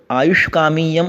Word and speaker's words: आयुष्कामीयम: आगे अर्थात आयुष्कामीयम अध्यायम व्याख्यास्यामः। तो इसमें श है, आयुष्कामीय, और आयुष्कामीय नहीं है, कामीय है। तो दीर्घ ई जो है ये दीर्घ है।